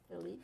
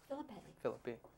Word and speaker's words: Phillippe: philippe oh philippe yeah phillippe you can say no am i giving it now the italian pronunciation no i think it's it's derivative of the french philippe and then it was americanized because the french people